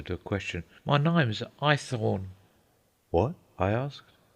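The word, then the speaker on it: Haythorne: a question my name's ithorne what I asked I Thorn sir I thorn spell it h-a-y-t-h-o-r-n-e python oh I said Irish Cockney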